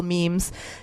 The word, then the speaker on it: meme: Like a lot of people I know post jokes or post positive things or post cute little memes, or little pictures. Is that how it's pronounced?